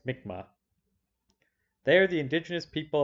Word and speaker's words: Mi'kmaq: about a peak group of people called the mikma that's how this is pronounced mikma they are the indigenous people of the maritime